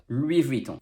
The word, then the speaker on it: Louis Vuitton: in louis and also the s in louis is silent because s is almost always silent at the end of french word and you have the